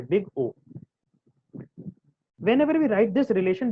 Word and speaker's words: big O: It is pronounced in that way, big O.